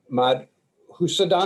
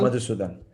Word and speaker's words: Madhusudan: That's the first syllable, and your last name is pronounced Madhusudan. Madhusudan. Okay, Madhusudan, yes. just like it sounds.